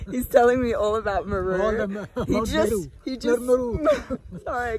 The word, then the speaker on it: Meru: I keep saying it wrong. Meru. Meru. It's like a sheep. Meru.